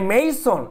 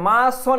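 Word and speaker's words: mason: এ মেইসন, আবার দেখি উচ্চারণটা মেইসন, এটা মাসন এরকম না, আগে মেই ময়কার রস্বই, মেইসন।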